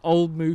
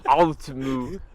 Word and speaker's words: Old Mout: Oh yeah, Old Moo. it's What moo. is it? Moo. Quench Old the moo. thirst. Oh, Do you pronounce the T? Oh no. Yeah. Old Moo.